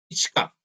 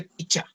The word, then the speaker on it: pichka: También se dice picha. Pichka, ¿sí? Tal como está escrito, se puede pronunciar pichka. Es un poco difícil, pero, o si no, también se lo puede hacer directamente picha. Funciona también con picha.